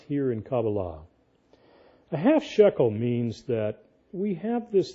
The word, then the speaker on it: shekel: activate it if we do something called a half shekele now half shekele shekele how do I spell that s h e k e l right Rian okay a half Shuckle half Shuckle we have a lot of people